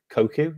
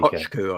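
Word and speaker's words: Kökçü: Koku? Is it Koku? It's not pronounced like that, but I know what you mean. Koku or whatever his name is. Yeah, the one who plays in Benfica. Kochku, I think it is.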